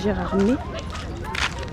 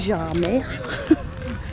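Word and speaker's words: Gérardmer: Sachant qu'on dit Gérardm et qu'il y en a qui dit Gérard mer.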